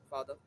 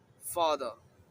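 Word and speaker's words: father: মতো রাখতে হবে অর্থাৎ র টা একটু আস্তে উচ্চারণ হবে একদমই না বলছি না আবার একদমই হ্যাঁই বলছি না হালকার মধ্যে তাই এটা উচ্চারণ হবে ফাদার ওকে নেক্সট মাকে তো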